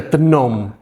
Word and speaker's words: Tenom: They Terus yang, mispronounced Tenom as well. So. ya Tenom instead of Tenom.